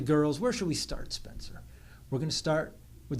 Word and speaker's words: Spencer: It's not Spenker or anything like that. It's Spencer, right?